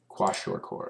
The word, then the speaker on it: kwashiorkor: pronounce this those if tell us how to pronounce it let's see washer washer washer washer washer core okay yeah yeah but it's basically caused by